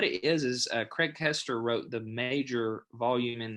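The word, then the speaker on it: Koester: listening and not watching kester is spelled k-o-e-s-t-e-r not pronounced keister right that's something else craig caster k-o-e-s-t-e-r all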